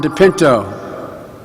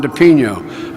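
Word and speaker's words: DePinho: Cancer Institute and Dr Jeffrey slow and Ron depinto or excuse me Ron Ron Ron depino I've been talking around for a long time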